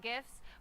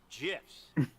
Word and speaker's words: GIF: Acronym's pronunciation is determined by the creator of the said acronym, like a proper name. In this case, the creator of the graphics interchange format, Steve Wilhite, says it's GIFs.